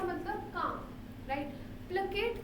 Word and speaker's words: placate: अब इसको कई लोग प्रोनाउंस करेंगे प्लेसेट. नो, इट इज प्लेकेट. जैसे के का साउंड जहाँ पे है, इट्स नोन एज प्लेकेट.